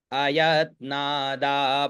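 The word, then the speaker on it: अयत्नाद्: अयतना दाद त्रिभुवन वैभव्यति करम दशास यू न भतरण कंडु परवशान शिर पद्म श्रेणी रचित चरण भोह बले स्थिराया भक्त त्रिपुर हर विजितम अयत्ना अ य आधा त और ना तो अयतना दा पाद्य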